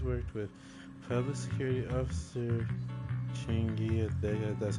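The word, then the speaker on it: Qingyi: Affirmative the agent's master has worked with public security officer Chingi that's how you say her name.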